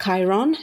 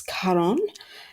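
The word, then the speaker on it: Charon: it's a personal call Caron not Chiron it's karon I hope I'm getting this pronunciation right but he's the person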